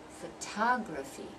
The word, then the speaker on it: photography: going to notice that we're going to move the stress to the second syllable now it becomes photography photography's four syllables but we're stressing that second syllable that's the one where we're going to pause we're going to rest on it and we're going to say it longer louder and clearer so and that's the